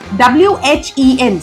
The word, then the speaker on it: when: word goes what similarly w-h-e-n since e is there that is why H will not give you the sound and this word will become when why everywhere please don't